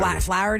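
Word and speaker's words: Flaherty: away in December and now Joe is it flarey or FL Jo FL flowy is how you say FL uh even though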